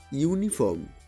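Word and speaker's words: uniform: ইউনিফর্ম, ইউনিফর্মের শুরুতে ইউ আছে কিন্তু উচ্চারণ ইউ, তাই এদের আগে এ বসে।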